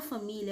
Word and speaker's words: família: Crianças, a palavra família é uma paroxítona, só que ela é terminada em ditongo crescente, certo?